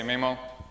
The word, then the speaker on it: Maemo: not from Finland and I've heard people pronounce it differently Nemo my mo I say MIMO hope it doesn't offend anyone it was developed by